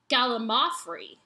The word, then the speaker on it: gallimaufry: the correct pronunciation of gallimaufry puts the emphasis on the third syllable, mao, not the second, limb, as you've been saying it. So it's gallimaufry.